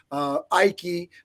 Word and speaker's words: Ike: Ike, pronounced like Nike, in the comments.